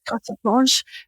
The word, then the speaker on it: carte blanche: Carte blanche.